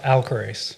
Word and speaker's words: Alcorace: Because I cannot pronounce that. Alcorace. Alcorace.